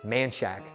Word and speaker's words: Manchaca: We have a street here called Manchaca, okay? But people here pronounce it Manshack.